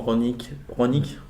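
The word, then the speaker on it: Rangnick: Le nouveau coach allemand, Ronick, c'est comme ça qu'on prononce.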